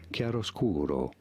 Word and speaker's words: chiaroscuro: It's an Italian phrase, so I'll put on my best Italian accent, and it's called Chiaroscuro, chiaroscuro.